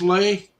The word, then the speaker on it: Le: them were just L.E but uh uh that's pronounced lay uh I knew at least I had a